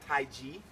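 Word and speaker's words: Taiji: It's actually Tai Ji. Most Americans spell it T-A-I-C-H-I, incorrect, Tai Ji.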